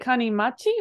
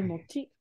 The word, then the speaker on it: 金持ち: Hi, is it kanimachi or how else could this possibly be pronounced? 金待ち. It's actually mochi. Sorry. 金持ち.